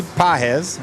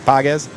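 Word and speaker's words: Pages: You got Andy Pahz, right? That's how you say it. Not PZ. PZ, I believe. So, Silent G.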